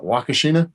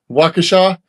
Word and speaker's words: Waukesha: Yeah, if you got Tractor Supply in your area and they have that, how do you even pronounce that? Wakashina? Waukesha.